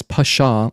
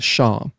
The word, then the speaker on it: Pshaw: It's pronounced that as pasha or just sha. So yeah, it's a it's a silent p or pasha.